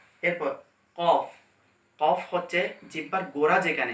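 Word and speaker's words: كاف: অর্থাৎ এই জায়গা হবে, এই জায়গা থেকে বরাবর উপরের দিকে লেগে কাফ উচ্চারণ হবে বারিক ভাবে, কাফ।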